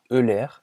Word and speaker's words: Euler: Et oui, ça se prononce bien Euler et pas Euler, mais comme en français tout le monde dit méthode d'Euler, je vais garder cette prononciation pendant toute cette vidéo.